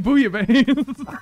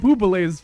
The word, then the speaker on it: bouillabaisse: Connor's husband earlier to get a bunch of bouillabaisse. Is that how you say it? Yeah, Rhett's name is pronounced. You mean bouillabaisse? Yeah, that. I know Rhett's name. We were calling it boubalaise for a while, and I really enjoyed that.